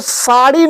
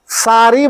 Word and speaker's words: साड़ी: कि ब्रिज भाषा में, ब्रिज भाषा में रा जो शब्द है, रा तो रा शब्द का उच्चारण नहीं होता है। साड़ी, जैसे साड़ी शब्द है तो साड़ी नहीं बोलते, सारी बोलते हैं।